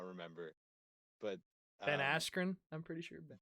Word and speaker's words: Askren: not remember but ben askren i'm pretty sure bennett mispronounced his name as he was going in apparently they called him ben ass grew or something but that just goes